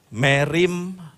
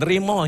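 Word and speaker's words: μεριμνάω: Merimnao. Merimnao. Bukan rimo ya, bukan ya. Perhatikan ini, kata yang diterjemahkan sebagai khawatir adalah kata Yunani merimnao. Merimnao, kalau Yunani biasanya membacanya begitu, merimnao berasal dari kata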